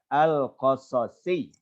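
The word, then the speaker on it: القصصي: Kemudian tadi juga ketika menyebut nama yang akan menyampaikan, itu bacanya al-qasasi. Jadi al-qasas itu jama dari kisah, jamanya qasas. Kemudian disambung dengan ya nisbah.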